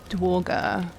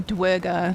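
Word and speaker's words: duergar: I wonder if there's any Merchants amongst the dwarger not really seeing anything or dwerger sorry gotta pronounce it correctly all right so that's the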